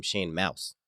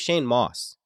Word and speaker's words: Shane Mauss: If you listen to the first episode I did with Shane, I called him Shane Mauss. That's not right. His name's Shane Mauss.